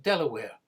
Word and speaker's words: De La Warr: However, she eventually settled down, and her great-grandson was this man, Baron de la Warre, pronounced Delaware.